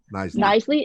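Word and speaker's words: Knisley: Knisely.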